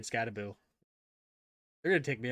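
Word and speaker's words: Skattebo: The pronunciation is Scataboo. It's Scataboo.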